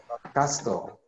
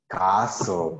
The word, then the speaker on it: castle: you pronounce this word casteau castle oh my very good castle in this case the letter T doesn't sound so we say castle castle castle something like